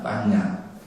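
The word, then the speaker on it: paññā: 빠냐라고 하는, 우리나라에서는 바냐라고 그러죠. 그건 이제 산스크리트 발음이고 빨리어로는 빠냐라고 합니다. 빠냐.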